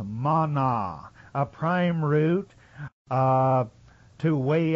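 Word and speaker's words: מָנָה: The word in the Hebrew is pronounced mana, a prime root to weigh out by implying a lot or constitute officially.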